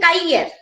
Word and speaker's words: cahier: Secondly, when you are saying Kaiyer, see here also we are not pronouncing H. H is a silent word and it is a partial vowel, right? I am saying Kaiyer, but you are not listening R properly, right?